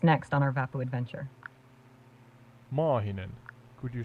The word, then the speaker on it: Maahinen: But then I was wondering, Sky, can I teach you to say a long A in Maahinen? Certainly. Please go ahead and teach me how to pronounce Mahinen with a long A. Yeah, Maahinen. Just extend the A part slightly and it sounds better in Finnish.